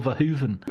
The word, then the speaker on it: Verhoeven: I was told by a Dutch friend it's Paul Verhoeven, and then I'll drop it into conversation.